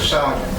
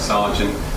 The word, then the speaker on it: Sergeant: Mr. Sergeant, I think that's how you pronounce it. It is.